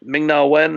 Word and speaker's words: Ming-Na Wen: speculated whether I forget her now is it ming-na wen is that how you say her name yeah